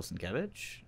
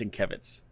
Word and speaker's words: Sienkiewicz: Bill Sienkiewicz? Yeah. That's not how you pronounce it. I was watching a New Mutants Roundtable on Comic-Con, and he came on, and it's Sienkiewicz.